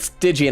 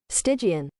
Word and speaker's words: Stygian: I like the word Stygian. I always said Stygian when I was a kid. I think I must have been reading that wrong.